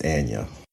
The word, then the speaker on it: Anya: It's Anna. Okay. Anna Taylor Joy.